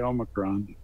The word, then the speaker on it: Omicron: I say Omicron. Okay, then that's what we are going to say, Jess. Omicron.